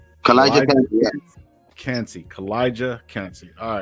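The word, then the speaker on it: Calijah Kancey: And then how do you pronounce this guy's name? Who? Kalijah Cansey. Kalijah Cansey, yeah.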